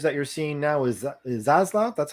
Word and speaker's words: Zaslav: And with these types of changes that you're seeing now is Zaslav, that's how you say it? Zaslav.